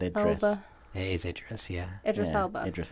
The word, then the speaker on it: Idris: I can't pronounce his name. Idris. I've always said Idris. Elba. It is Idris.